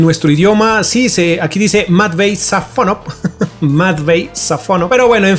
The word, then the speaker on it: Matvéi Safónov: Bueno, su pronunciación correcta, su nombre más bien, se dice Matvey Safonov. Matvey Safonov. Es más o menos el nombre de este señor.